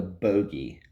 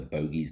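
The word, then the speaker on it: Bogge: We call it the bogey. This thing talks about grinding bones and sucking marrow, and they call it the bogey. B-O-G-G-E. And the pronunciation guide in the back says it's pronounced bogey.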